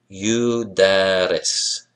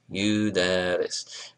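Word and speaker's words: يُدَرِّس: Yudaris, yudaris. Remember, measure two had how many syllables? Right, yudaris, it has three.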